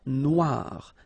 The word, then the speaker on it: noire: Then here, la mer Noire. Same thing here that we had previously. Final E not pronounced, okay? And then O-I, remember, wa, noir, noir. La mer Noire, okay?